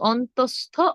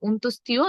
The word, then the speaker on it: অন্তস্থ: পারবো লিখে দিচ্ছি হ্যাঁ প্রথমটি হলো অন্তস্থ অন্তস্থিয় নয় আমরা অন্তস্থিয় বলি অনেকে এটা অন্তস্থীয় হবে না এটা হবে অন্তস্থ তারপর খন্ড ত খন্ডের